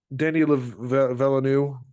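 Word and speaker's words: Villeneuve: have sucked but um dnyanu I think is how his name is pronounced uh is a great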